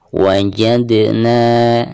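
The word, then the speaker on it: وَجَدْنَا: Wajadna, dan di sini huruf dal ketika sukun maka dihukumi qalqalah, dan cara membacanya harus ada pantulannya.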